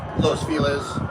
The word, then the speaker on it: Los Feliz: Um, Los Felis, which is spelled Los Feliz, F E L I Z.